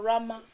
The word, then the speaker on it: Rhema: Comme c'est anglophone, vous comprendrez que le pasteur le prononce en anglais, c'est ça, Rama Church en anglais.